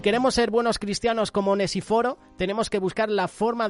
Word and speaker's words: Onesíforo: Que yo digo Onesíforo, pero a lo mejor es Onesíforo, ¿sabes? Porque tiene el acento en la I.